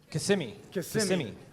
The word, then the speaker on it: Kissimmee: Okay, so here's another one in Florida, in Kissimmee. How do you say that, Brandon? Kissimmee.